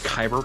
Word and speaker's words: Kyber: like they talk you through the whole like caver crystal nonsense and all that nonsense that's crazy uh it's pronounced kyber crystal i knew i was saying it wrong